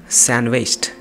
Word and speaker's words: sandwiched: Today is sandwiched between tomorrow and yesterday. Today is sandwiched between tomorrow and yesterday. This word is sandwich. The D is silent. Sandwiched.